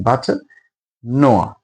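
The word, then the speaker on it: bête noire: The pronunciation but Noah. That is French.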